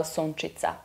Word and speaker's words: Sunčica: I guess people tend to understand the Sunči part, but Ica is a little bit confusing, and I started lately for a couple of years to explain it as it's like in pizza, like how would you pronounce Ica, pizza, that is how Sunčica. And I worked a lot